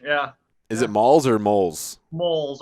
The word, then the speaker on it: Molls: Is it Molls or Moles? Moles. I pronounce it moles, like mole in the ground.